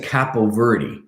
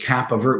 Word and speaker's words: Capoverdi: Mista first of all it's mr. Capel Verde you know if I have to pronounce their names which nowadays names can be very difficult first names can be very difficult to pronounce then they should be able to pronounce my name which is Kappa vert mr. Kappa Verde if I were a